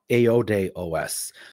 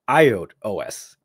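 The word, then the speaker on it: iodéOS: talk about in this video so I've been pronouncing it wrong it's apparently called aod OS so forgive me for calling it iode OS didn't hear about it before now I know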